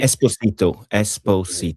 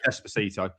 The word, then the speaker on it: Esposito: By the end of the day, Esposito. Okay, Esposito.